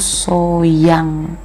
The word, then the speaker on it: Sohyang: Jadi namanya itu kalian pasti tahu, namanya itu Sohyang gitu bacanya ya.